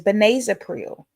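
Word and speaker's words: benazepril: The pronunciation of the generic is benazipril.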